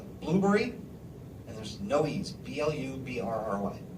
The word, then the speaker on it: Blubrry: 2 is a service called Blueberry, and there's no E's, BLUBRRY.